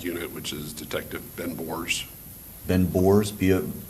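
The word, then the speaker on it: Bohrs: which is Detective Ben Bors. Ben Bors B. Yeah, don't quote me on how to say it, but I I think it's B O H RS Bors is his last name.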